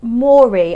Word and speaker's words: Moerie: A company called Moerie, I think I'm pronouncing that correctly. It's M-O-E-R-I-E, Moerie.